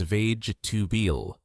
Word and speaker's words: vegetable: The correct pronunciation is vage tubil.